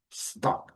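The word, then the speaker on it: stalk: O ideal é colocar um stock, não falar stock, claro, stock, stock, stock. O L não é pronunciado, é hoje é o famoso stocking, né?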